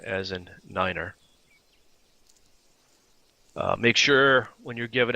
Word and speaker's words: nine: like five f f/a and 9 is said as Niner now you don't have